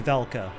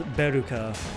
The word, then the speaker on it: Velka: But, like, even with my limited knowledge of Japanese, I know that's supposed to be Velka. That is straight up supposed to be Velka, but, like, they took, like, the literal Japanese pronunciation of it as Beruka.